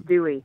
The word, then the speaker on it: Duez: Yes, it's a French name, D-U-E-Z. Yes. Yep, but it's Dewey.